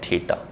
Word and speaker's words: theta: ये गिवन है हमें और इसकी वैल्यू है थीटा।